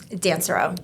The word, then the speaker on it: Dansereau: Dancero. Okay. Dancer. Yes. Yeah. Good luck pronouncing or spelling that spelling.